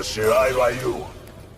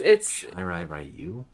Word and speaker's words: Shirai Ryu: For the Shirai Ryu, you die.